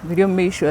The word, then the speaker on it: Biryomumaisho: gona ngaga bamaringwa yes so na sharam nagira Biryomumaisho like it's catchy first of all umuntu naruhurira